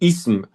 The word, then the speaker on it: ism: On dit ism comme ça. Subhanallah. Ism. Ism.